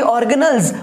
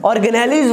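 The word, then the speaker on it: organelles: फिर इसके बाद होगा क्या कि हमारी ऑर्गेनल्स, ऑर्गेनेलिज वर्ड नहीं होता, ऑर्गेनल्स होता है। आप गूगल पे जाकर प्रोनाउंसिएशन चेक कर सकते हैं।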